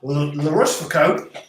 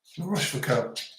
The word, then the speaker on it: La Rochefoucauld: It's C-A-U-L-D, not T. Take that back. Right again. Just the O sound, not the W.